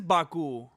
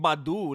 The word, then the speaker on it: Baku: Where is Baku? Is this dude that he's fighting from? Baku earlier I was googling Badu like Erica Badu. I didn't know I said it wrong.